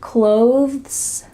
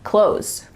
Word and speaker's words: clothes: When native speakers are speaking a little bit slower, they might add a TH sound, clothes, clothes. You see how my tongue comes out a little bit for that TH? Clothes. But really, when we're speaking quickly, it just sounds like close, close.